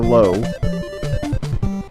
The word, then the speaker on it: Lao: It's spelled Lao, L-A-O, but the guy pronounced it as Lo.